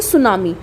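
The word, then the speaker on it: tsunami: अब यहाँ पे एक चीज़ दे रखी है, सुनामी। सबसे पहले कई बार ये पूछा गया है, इसमें टी साइलेंट रहता है।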